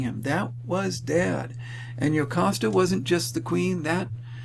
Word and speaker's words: Jocasta: And then, their mother, Jocasta, that's pronounced Jocasta.